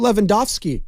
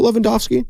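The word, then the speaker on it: Lewandowski: should have been levo Leva I forgot how they pronounce it the W's are V's over there so I'm doing my best uh here's Klay Thompson talking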